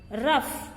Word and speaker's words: rough: Rough. Here GH is pronounced as F only.